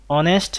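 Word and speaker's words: honest: যেমন হি ইজ অ্যান অনেস্ট ম্যান, অনেস্ট, এখানে প্রথমে এইচ আছে কিন্তু এইচের উচ্চারণ না হয়ে একটা ভাওয়েল সাউন্ড হচ্ছে অ, এই কারণে আমরা এখানে এন বসিয়েছি।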